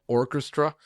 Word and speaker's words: Orkestra: It's called Orchestra. It's spelled Orkestra, and it's part of